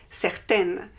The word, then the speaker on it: certaine: And the feminine is certaine. Certaine, we hear the N because there is an E after. Certaine.